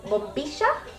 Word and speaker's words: bombilla: In Uruguay, same as Argentina, any words that has WL or Y, we pronounce it as sha. Hence, bombilla and yerba mate.